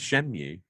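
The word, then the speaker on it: Shenmue: I've never played Shen and mu I've played Shen mu I've oh that's how you say it there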